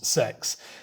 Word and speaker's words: sex: another funny one and sex means six but it's spelt sex as in the english intercourse sex um which i still